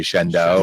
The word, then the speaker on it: Shenandoah: You can't live in Shenandoah and say Shenandoah, can you? No, you say Shendo, You say Shenandoah.